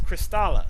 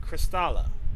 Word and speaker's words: Kristala: Pablo, I already told you, it's Kristala, spelled with a K. I repeat, Kristala.